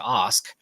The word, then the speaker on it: Ask: have told you this my last name is actually pronounced Os Oh okay but it's